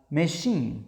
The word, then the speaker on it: machine: But can also be pronounced sh in some words, mainly of French origin words like machine, yeah.